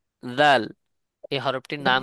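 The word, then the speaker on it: ذال: না এক কথায় এই দুই দাঁতের আগার সঙ্গে লাগাইয়া ছা উচ্চারণ হয় এবং জালও উচ্চারণ হয় জাল ছা এই তিনটা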